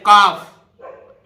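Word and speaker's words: calf: silent रहता है देखिए सी ए एल एफ काफ एल नहीं बोलेगा यहां भी तो काफ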